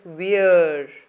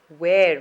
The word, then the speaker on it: where: word is where and where contains the air sound this is another word which is commonly mispronounced so don't call it fear it is where when you're asking a question using the word wher e the sound is of air where so is the case